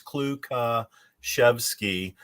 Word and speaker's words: Klukaszewski: mary for having me the uh correct pronunciation is uh four syllables it's kluka chevsky but um my friends